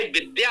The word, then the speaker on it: विद्या: द हलंत या है विद्या है विद्या ही पढ़े विधा ना पढ़े या कोई और अशुद्ध उच्चारण ना करें और लिखे तो यह